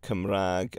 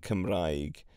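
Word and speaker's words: Cymraeg: of words and so come Rag and kamrag are both perfectly acceptable ways of saying it and it just depends on where you are in Wales and yeah there's quite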